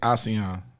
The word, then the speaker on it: Ausee: So you said say Ausee, so to pronounce it's Aussie like Australian or like? Well, my name is Ausee.